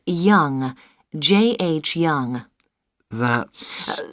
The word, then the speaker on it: Yonge: Yes, it's Young. J.H. Young. That's... That's spelled Yonge. That's Young.